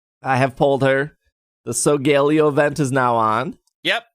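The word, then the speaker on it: Solgaleo: And I think I got 10 tickets every time, and you need 100, and then you get Sogaleo, or Sogaleo. Yep. Sogaleo, I think is how you say it.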